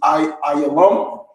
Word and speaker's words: Elam: Elam is Ayalam, right?